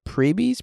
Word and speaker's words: Preebie: For reference, we, the Preebies, pronounced Preebie, are diehard real tree fans.